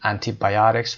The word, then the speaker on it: antibiotics: antibiotics قسمت یا اوی که در اینجا داریم استرس میگیره میگیم antibiotics و یا antibiotics فرقی نداره استرس روی او قرار میگیره.